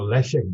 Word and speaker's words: Leszek: And Leszek is a sh, because you do it reverse from us. So Leszek Balcerowicz, he is a leader in the workers' control section of Solidarity in 1980 to 81.